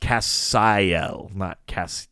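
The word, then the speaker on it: Qaphsiel: is q-a oh q-a-p-h-s-i-e-l or q-a-f-s-i-e-l but it's pronounced cassayelle or castiel um though there's like a barnyard version of supernatural cafstill well yeah that's earth 26.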